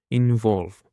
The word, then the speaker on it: involve: Now for the third word, we have involve. Involve. Involve has 2 syllables and the stress is on the second syllable.